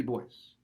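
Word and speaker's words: Du Bois: yusufy standing bear w.e.d boyce that's actually how he pronounced his own name we would normally pronounce it dubois but it's his name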